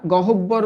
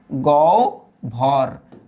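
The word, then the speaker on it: গহ্বর: এই হ এর আগে একটা গ আছে। গ এর সাথে তো অ আছে। অধনি যুক্ত যদি হয়ে থাকে তাহলে হ এর উচ্চারণ ও এর মত হয়ে যাবে। তাই উচ্চারিত রূপটা কি হয়ে যাবে বলতো? গ ভর। গ ভর।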